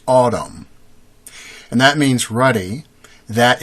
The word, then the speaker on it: Adam: Adam with hyphen, or a accent over each A, pronounced Adam.